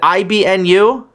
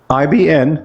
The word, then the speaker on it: Ibn: Is it IBNU? IBN, no you. Oh, just Ibn. IBN. Why did you say Ibnu? That's pronounced Ibn.